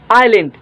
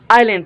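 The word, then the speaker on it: island: ठीक number word आए आइलैंड आइलैंड ठीक है अक्सर स्टूडेंट्स के इस पढ़ सो बिल्कुल गलत आए खामोश आए ठीक आइलैंड आइलैंड पढ़ो ठीक है आइलैंड जो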